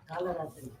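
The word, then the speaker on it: कालरात्रि: So with this, Kalaratri, that la is simple la or this la? Kalaratri. Kalaratri. Kalaratri. Kala. Yeah. Simple.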